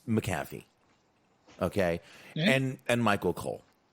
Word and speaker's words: McAfee: mcafee i'm sorry i i just can't say mcafee it's not spelled like that i feel weird it's mac it's mcafee okay and and michael